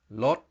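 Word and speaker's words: ลด: doir with no vow makes lot with a skeptical tone and that means to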